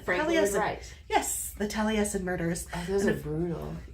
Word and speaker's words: Taliesin: Taliesin? Taliesin. Frank Lloyd Wright. Yes, the Taliesin Murders.